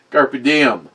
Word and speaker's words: carpe diem: Carpe diem. You're pronouncing it correctly.